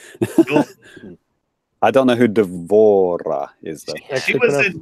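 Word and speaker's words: D'Vorah: I don't know who Devora is though. She was in Mortal Kombat 10 or X. Yeah, she's the new one. It's pronounced Insect Deborah, Lady. actually. Deborah.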